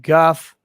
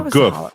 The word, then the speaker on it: guf: I thought it was the Hall of the Chamber of Guff. Guff is a Hebrew word meaning bodies, chamber of bodies. Oh, goof. That's goof. Goof. Yeah. Goof. Look, my Hebrew pronunciation is not solid.